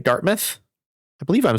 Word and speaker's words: Dartmouth: Wait, Addy, can you pronounce Dartmouth? That's it, right? Dartmouth.